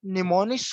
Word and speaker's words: mnemonics: So first of ऑल हमारे पास निमोनिक्स को pronounce किस तरह किया जाता है, इसमें आपके सामने ही है कि निमोन एक इसको प्रोनाउंस करते हैं, the initial word M इन निमोनिक्स is silent.